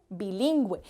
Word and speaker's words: bilingüe: Por ejemplo, bilingüe. Lleva los dos punticos porque lo pronunciamos con U, bilingüe.